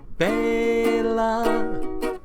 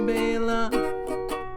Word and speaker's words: Bela: But we've mispronounced his name for far too long, when we should pronounce his name Bela. That is how you say Bela.